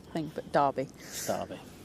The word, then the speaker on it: Derby: how it's thing but Derby Derby don't know why it's spelled D e r b y when it's said g a r b y anyway let's